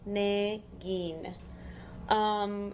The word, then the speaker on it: Negin: It is pronounced Negin.